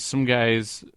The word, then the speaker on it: Sumghai: The parts come from many different sources, such as KW Rocketry, Bahamuto D, PorkJet, and some guy's Fustek habitation modules. Is that how that's pronounced?